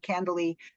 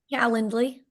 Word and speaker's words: Calendly: with her through her candley is it candle candle how do you say that calendly calendly sorry and um what you